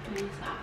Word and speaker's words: Risa: begin with the cast Risa or Lisa .... they pronounce it with an L O: Lisa C: yes!